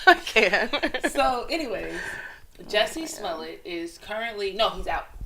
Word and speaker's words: Smollett: Smollett? So like mullet with an S?